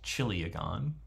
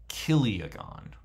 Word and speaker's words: chiliagon: looks sort of like it's pronounced chiliagon I think that's okay to say too I've learned it as kiliagon right so we can